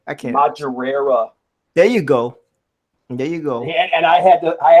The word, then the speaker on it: Madureira: I can't pronounce his last name. Maduri. I can't. Madureira.